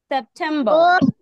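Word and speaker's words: September: ই আর বার সেপ্টেম্বর সেপ্টেম্বর আর উচ্চারণ করবো না আর টা উচ্চারণ করবো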